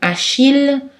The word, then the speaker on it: Achille: Aussi dans le mot Achille ou le nom de ville Lille, c'est prononcé L.